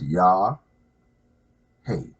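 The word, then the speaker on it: Yahweh: It's pronounced Yah, hey. When you breathe in, Yah, out, hey.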